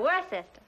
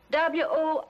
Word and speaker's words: Worcester: The Earl of Worcester.